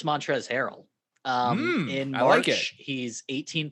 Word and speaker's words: Montrezl: Montrezl Harrell. Don't forget that silent L in there.